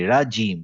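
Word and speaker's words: رجيم: জিম, এটা হচ্ছে জিম দিয়ে, জিমের উচ্চারণ কি? রাজিম।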